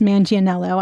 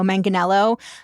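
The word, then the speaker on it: Manganiello: Once we stopped recording, I looked this up and he actually pronounces his name Joe Manganello.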